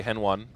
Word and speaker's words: HEN1: But we'll do our best to say Hen1. Because there's Lucas1 as well. Maybe there's some kind of bro. Okay, so Dustin Mouret says. It's Henny. Excuse me, Dustin Mouret. Let's not go crazy with the pronunciations. But the thing is, I've heard Fallen say Hen1 before. If Fallen calls him Hen1, his name's Henny, what the hell's going on?